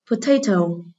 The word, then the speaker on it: potato: Câu 14, potato, từ này có ơ ở âm tiết số 1, thì vậy trọng âm rời tiết số 2.